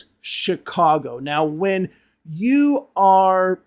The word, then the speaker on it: Chicago: No one in the United States, no one in the English-speaking world says Chicago. It's Chicago.